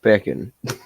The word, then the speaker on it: pecan: I say it pecking. Kind of like bacon with a P.